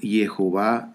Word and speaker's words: Jehová: a a el nombre tú pronuncias el nombre como yahwe okay Si tú dices Jehová está bien si tú dices Jehová